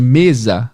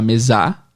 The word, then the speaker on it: mesa: Se ao invés de mesa, alguém falar mesá, você concorda que, embora sejam as mesmas sílabas, a entonação muda totalmente o entendimento? Mesá não parece mesa.